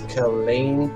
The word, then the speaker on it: Killeen: Yes, Killeen, Texas.